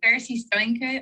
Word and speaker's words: Steinke: Actually, I read an extraordinary essay a few years ago, speaking of Frankenstein, by Darcy Steinke. Is that how you pronounce her surname? Darcy Steinke. I think she's American. Yeah. That's right.